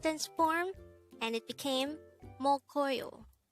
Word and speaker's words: 먹어요: angle we're going to study about the word mokoyo let's start learn korean one word at the